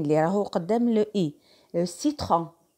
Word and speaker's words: citron: سيترون citron اللي هو الليمون. citron اللي هو الليمون يتلفظ اس.